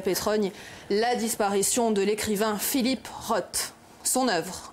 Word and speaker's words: Philip Roth: 22 mai à manhattan philip roth et non philip roth prononciation à la française pour la quasi totalité des médias alors qu'on devrait dire philip roth célia enfin pardonnez-moi davance